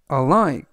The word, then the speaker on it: alike: 수업은 나에게 중요하다라는 뜻이 되겠습니다 이번 단어는 alik alike alik라고 발음하시면 되겠고요 이때 강세는 아의 강세가 있습니다 그래서